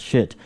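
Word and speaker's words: Schiit: It's made by a company in California called Shit, spelled S-C-H-I-I-T. That's how you pronounce it.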